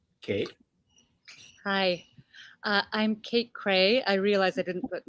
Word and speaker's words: Kraay: find me by just hearing the name cray they're going to get very confused because it's spelled k-r-a-a-y one of those crazy dutch names um so i have